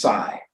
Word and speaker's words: psi: but the wave function this Greek letter looks like a pitchfork is uh pronounced PSI and if you have